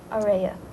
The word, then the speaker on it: Araya: Our director's name is Araya.